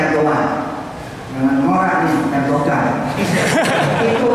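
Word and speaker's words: Erdoğan: Sal Sal Salim Sal Kemarin saya ketemu erdoman bacanya Erdogan jangan ngak nih Erdogan itu esdoger itu Presiden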